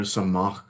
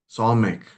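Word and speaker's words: Samekh: word Sinai starts with the letter Samach, Samek. Sorry, Samek is the letter's name, but there's a word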